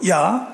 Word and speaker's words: ja: 우리가 보통 yes 이렇게 얘기하면 좀 촌스럽다 그러고 야 그래요. 좀 건방집니다. 야가 어디서 왔어요? 독일에서 왔습니다. 독일에서는 야 그래요. yes를 야 그런데 그 스펠을 보면 JA입니다. J가 Y 발음이에요.